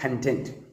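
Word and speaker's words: content: എന്നുള്ള അർത്ഥം സന്തോഷവാനായ അർത്ഥം അപ്പോ ഞാൻ പറയുകയാണ് ഐആം കണ്ടന്റ് അതിനർത്ഥം ഞാൻ സന്തോഷവാനാണ് എന്നാണ് എന്നുള്ള അർത്ഥാണ് ഇവിടെ ഉള്ളടക്കം എന്നുള്ള അർത്ഥത്തിലാണെങ്കിൽ കോണ്ടെന്റ് എന്ന് ഉപയോഗിക്കണം അത് എഴുതുമ്പോൾ ഒരുപോലെ ആയിരിക്കും പക്ഷേ ഉച്ചാരണങ്ങൾ അർത്ഥം മാറുന്നതിനനുസരിച്ച് വ്യത്യസ്തമായിരിക്കും ഓക്കെ ഹെൽഡ ഓൺ ചാർജ്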